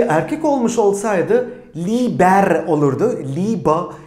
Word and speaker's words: Liebe: Liebe şeklinde okunuyor.